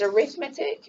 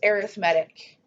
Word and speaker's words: arithmetic: Okay, so there's actually 2 words that are spelled the exact same that are pronounced different. There's arithmetic, which is like a noun. It's like an actual name of a type of mathematics, adding and subtracting. And then there's an adjective, and that's pronounced arithmetic, and that describes the pattern.